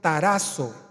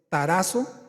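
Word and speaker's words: ταράσσω: Turbo es una palabra griega que se se pronuncia tarazo con doble s tarazo Aquí está Mire Aquí está proyectado al frente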